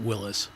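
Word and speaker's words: Willys: forget his first name he pronounced it Willis but I never heard anybody else say that so the guy that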